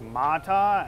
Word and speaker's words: Mata: I don't know how you pronounce that. It's Mata, M-A-T-A.